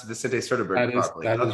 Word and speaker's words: Vicente Sederberg: Did I pronounce Vicente Sederberg properly?